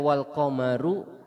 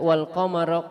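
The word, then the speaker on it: والقمر: Jadi bisa dibaca dhammah, bisa juga dibaca fathah. Jadi bisa dibaca wal qamaru qaddarnahu manazila, bisa juga dibaca wal qamara qaddarnahu manazila.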